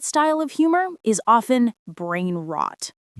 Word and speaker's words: brainrot: It's a compound word. Brain rot. Two short, strong syllables. Brain rot. It's easy to say and it creates a strong image.